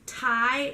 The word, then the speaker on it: Tighe: Ty is my great-grandmother's maiden name. She was Grandma Ty. And it's spelled Tighe.